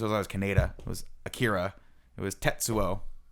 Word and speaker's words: Akira: So it's not Akira, it's Akira. Yeah. It's Tetsuo, Kaneda. right? Kaneda, right? And when I grew up, I heard the other translations. It was always Kaneda. It was Akira.